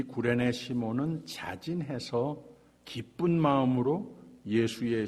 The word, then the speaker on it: 구레네: 이 구레네 시몬이라고 하는 소개가 됐는데, 이 구레네라고 하는 말은 이 사이러스라고 미국 사람들은 발음을 하는데, 사실 우리 구레네 한국 사람들의 발음이 원어하고 더 맞습니다. 구레네가 맞는 발음입니다.